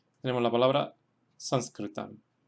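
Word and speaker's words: Saṃskṛtam: La segunda fila tenemos ejemplos en los cuales se acentúan en la primera sílaba porque la segunda sílaba es corta.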